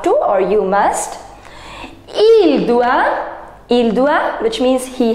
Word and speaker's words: doit: Je dois, tu dois, il doit, don't pronounce S, S, T, T, non. Il doit, elle doit, elle c'est féminin, on doit, nous devons, vous devez, ils doivent, ils doivent et elles doivent.